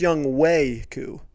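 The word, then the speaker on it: Younghoe Koo: actually timmy i hate to correct you it's young wei ku that's actually how you pronounce it he's the best fan the other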